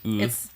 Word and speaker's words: Wu: So the W is like silent. It's Wu.